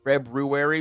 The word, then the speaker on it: February: right I pronounce it February because I'm not short changing myself on all the letters that are in the month I say library I